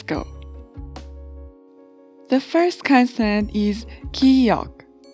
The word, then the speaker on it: 기역: The first consonant is 기역, 기역, and it has a sound of K or G. It sounds more like between K and G sound.